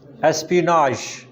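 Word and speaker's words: espionage: एस्पिनाज, एस्पिनाज, pronunciation थोड़ी सी different है, बाजार लगता है एस्पियोनेज लिखा हुआ है।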